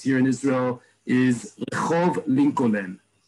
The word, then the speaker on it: Lincoln: in Israel is Rehov Lincoln, right? Lincoln Street is Lincoln Street because they're pronouncing every single letter in the word in the name Lincoln.